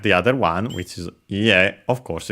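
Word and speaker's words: いいえ: Technically accented on the last syllable.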